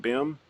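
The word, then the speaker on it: BIMM: Am I pronouncing that right? BIM?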